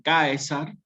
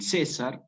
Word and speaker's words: Caesar: Al escribirse con C y estar unido a una A y una E, que es un diptongo en latín eclesiástico, se transforma y queda como César, ¿sí?